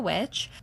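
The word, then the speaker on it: VVitch: how to say that oh it's just witch you can just say which okay cuz it's not they spell it with two v's but it's just it's to be cute like they're trying to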